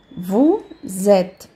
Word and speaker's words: vous êtes: Vous êtes. Então, o S tem som de Z. Aí vai ficar vous êtes na fonética.